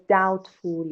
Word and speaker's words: doubtful: That's why I was doubtful if you are at home or not. Doubtful. بچه وقتی شک داریم میگیم I'm doubtful about something و بیش pronounce نمیشه.